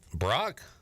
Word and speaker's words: Brack: Brock? Yeah, it's spelled Brack, but he said it's Brock.